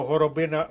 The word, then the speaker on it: горобина: горобина зеленіли в парку ну по-перше запишіть собі слово горобина в словничок бо наголос падає на третій склад горобина це стосується назви дерева і назви ягоди а по-друге запам'ятайте розташування